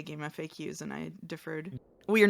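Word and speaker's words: GameFAQs: I've always pronounced this like as if like game facts instead of acronym. We're going to fight. I also say game facts, but I I heard someone else say game FAQs and I deferred.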